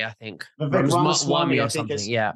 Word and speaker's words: Ramaswamy: I think it's Vivek Ramsway, I think. Vivek Ramaswamy, or I think something, yeah.